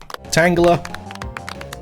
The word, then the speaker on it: Tangela: We have an official pronunciation. Tangela.